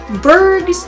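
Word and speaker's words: Burgh: and we will totally kick Berg's ass I said it right this time his name is not Bugsy there are just two bug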